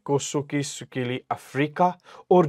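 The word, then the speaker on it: Nkosi: एक व्हाइट लोगों ने कौन सा गाया, ये पढ़ना, एन इसको साइलेंट करना है, कोसोकी सुकीली अफ्रीका।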